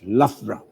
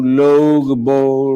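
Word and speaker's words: Loughborough: city which is spelled as l-o-u-g-h-b-o-r-o-u-g-h it's actually pronounced as lafra so how did you do most non-british people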